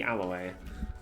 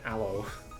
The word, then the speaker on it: aloe: Fantastic creatures make up the spiky aloy or aloe Alo is a a vtu it's pronounced aloe I'm pretty sure I think my parents